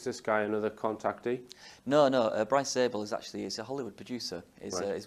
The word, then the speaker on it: Bryce Zabel: Following Richard Dolan is a guy called Bryce Zabel. Is that the correct pronunciation? Yes, that's right. So, Life After Contact. Is this guy another contactee? No. Bryce Zabel is a Hollywood producer.